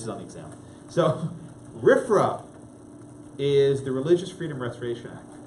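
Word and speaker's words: RFRA: the Religious Freedom Restoration Act the acronym is rifra which is pronounced rip rock riff from okay not to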